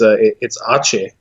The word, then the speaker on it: Aceh: Theomek is giving us a pronunciation that it's Aceh.